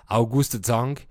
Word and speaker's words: August Zang: La première théorie est celle qu'un homme politique autrichien, August Zang, j'ai fait un peu d'allemand, donc je prononce à l'allemande, August Zang, aurait fondé une boulangerie spécialisée dans les pains viennois à Paris en 1839.